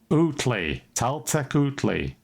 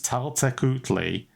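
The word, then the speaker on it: Tlaltecuhtli: But we're going to go with Taltekutli, right? That's Perfect. how it's now pronounced. However, it's been pronounced officially by experts. They're wrong. It's Taltekutli because that's the only way I can say this word. So that's the new reality. So everybody out there, deal with it because it's Taltekutli. If it's pronounced differently, it isn't anymore. And I would have doubled down on Tabla Cthulhu. it's Taltekutli, and that's how it is.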